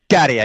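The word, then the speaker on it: Käärijä: Of course, I think I'll get the pronunciation. Is it Kerja, your contestant from 23? Garia, yeah, the one with the green sleeves, the funny trousers.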